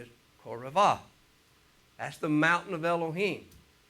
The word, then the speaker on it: Horeb: We call it Horeb, but the actual Hebrew pronunciation is Koravah.